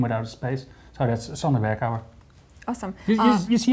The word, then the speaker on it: Sander Berkouwer: And today I got with me Sander Berkouwer. Yeah. Nice Dutch pronunciation right there.